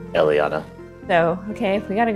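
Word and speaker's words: Eliianna: l i i a n n a correct Elana so okay we got to go down there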